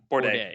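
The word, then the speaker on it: Bourdais: and i believe the only other one that we didn't talk about was board how do you pronounce his name bordeaux that's right bourdain sebastian bourdain yeah he's like he's two times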